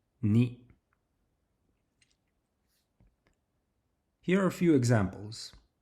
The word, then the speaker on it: に: If we were to remove the first stroke from the character ni then it would be written and pronounced as co. Once again 1 2 3 knee.